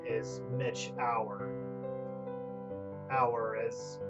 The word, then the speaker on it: Auer: should know that my real name is Mitch Auer. Auer is spelled A-U-E-R, in case you are confused, but yeah.